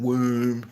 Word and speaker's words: womb: of the little B it's the silent B in womb it's the it's feminine